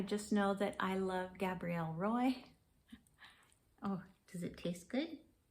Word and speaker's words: Gabrielle Roy: it so that is I'm gonna pronounce it the English way even though she's French Gabrielle Roy and so excuse me